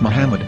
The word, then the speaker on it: Muhammad: yehuda's Hebrew English dictionary it is correctly pronounced as Muhammad not mammad so how we're going